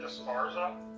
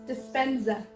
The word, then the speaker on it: Dispenza: So, we were gonna talk about the doctor, how do you say it, Disparza? Dispenza.